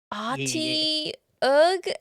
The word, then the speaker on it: Otyugh: It's called I an see. Otyugh. Can you spell that out for me? Otyugh. Y G Yeah. Ati Ugh.